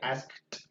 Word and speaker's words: asked: La K ya no vibra, entonces sería asked. ¿Listo? Sería la T.